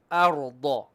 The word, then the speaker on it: الأرض: Okay, don't make your alif heavy. Alif is flat. ألم نجعل الأ. But the ra is heavy. را. أرض.